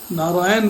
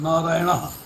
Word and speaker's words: नारायण: नारायण में भी जो ना है वो कृष्ण वाला ना है।